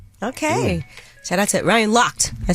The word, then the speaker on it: Lochte: Yeah, Lochte.